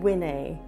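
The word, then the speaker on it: winnae: A significant feature of this accent is that in negative sentences, the auxiliary verbs such as do, did, and will merge with the word know and are pronounced as dinne and winne.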